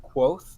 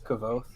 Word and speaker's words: Quoth: It's pronounced Quoth, but I always pronounced it in my head as Kavoth.